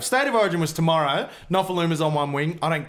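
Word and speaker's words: Nofoaluma: the highest try scorers in David Lofamuna. Not even close. Will you say it correctly? Nofaluma.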